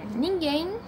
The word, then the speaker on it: Ninguém: Ninguém em é a última sílaba e é mais forte, e ela é terminada em, ou seja, ela é acentuada.